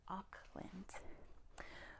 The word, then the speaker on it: Auckland: most populous city in New Zealand yeah is Auckland let's make sure we get that spelling it is a u c k l a n d aand it's pronounced ockland what's the capital of Australia class oh we